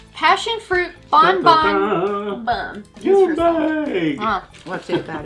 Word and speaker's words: Bon Bon Bum: This isn't a lollipop, it's Bon Bon Bum. Interesting name, huh? In Colombia, the word bum is pronounced like boom, so referring to the explosion of flavor inside the lollipop.